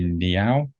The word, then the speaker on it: Ngeow: to recommend uh the author Ivy neow uh it's spelled n-g-e-o-w uh she is one